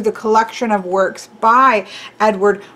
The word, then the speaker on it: Edvard: a norwegian name and i know there's a v here but the pronunciations i've seen or i've listened to have sounded more like edward uh you don't really hear pronounced v now that may or